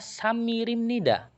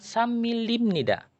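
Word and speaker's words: 삼일입니다: Makanya yang pakai bagian ini saya bacanya samirim nida, bukan samilim nida, tapi samirim. Karena imnida tersebut dia adalah partikel. Oke, sampai sini paham?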